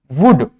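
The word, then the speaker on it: would: case में आता है for example कुड वुड शुड ये कुछ ऐसे वर्ड्स है जहां पर एल क्या होता है साइलेंट होता है लेकिन कुछ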